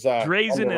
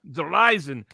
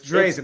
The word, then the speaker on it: Dreizen: the pinned comment afterwards correct drazen is in d-r-e-i-z-i-n it's not verizon as it is it's german it's not it's not third-party in german it's drazen okay yiddish yiddish all